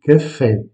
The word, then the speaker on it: café: en parler, sachez que le E avec un accent aigu se prononce E. C'est comme si vous aviez un accent grave. Donc, café, en portugais, se dit café.